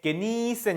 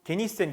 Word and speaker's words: genießen: 'Genießen' 에는 'ie' 가 있으므로 장모음 으로 발음 해야 합니다 . 하지만 학생 은 계속 해서 ' genissen', 'genissen' 으로 읽었습니다 . 하지만 " geni" 가 아니라 "niesen" 입니다 .